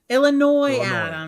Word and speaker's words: Illinois: say illinois it said illinois illinois okay the ass is silent okay vidiq did a